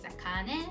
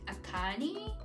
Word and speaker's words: Akane: is a little hiccup when I say my name is akane people usually go like akani and I have to repeat it imagine doing this every